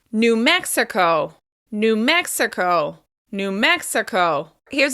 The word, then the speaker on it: New Mexico: Moving on, New Mexico. New Mexico. Once again, we're stressing the first syllable of the second word. New Mexico.